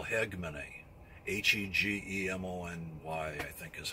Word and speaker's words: hegemony: It's geopolitical, what you call hegemony. H-E-G-E-M-O-N-Y, I think is how you spell that. It basically means control. When you have hegemony, or hegemony, but some people pronounce it with the H silent. Hegemony, geopolitical hegemony.